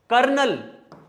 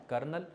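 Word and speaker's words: colonel: क्या बन गया लेफ्टिनेंट बस कर्नल कोलो नल कर्नल तो पेपर में ये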